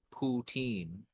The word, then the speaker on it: poutine: care about like my if you're an English-speaking Canadian you'll almost certainly pronounce it ptin ptin yeah like what what comes out of your butt like a shitty teenager